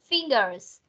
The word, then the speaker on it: fingers: Nhớ âm S ở cuối cọc. Fingers.